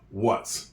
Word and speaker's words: what: believe it or not there's a silent h in what a lot of times